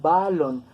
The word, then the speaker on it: balón: entonces nosotros no pronunciamos balón nosotros lo pronunciamos con acento en la última sílaba y es una palabra